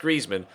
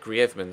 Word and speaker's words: Griezmann: at least he felt it was right that it was pronounced in the Spanish way I've had a few comments in the comment section recently of people saying why did you pronounce griman like that that's silly